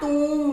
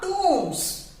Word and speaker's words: tomb: bodies को दफनाया गया tomb में, today many dead bodies were buried into the tombs. Tomb. So this will be pronounced as tomb, not tom, right?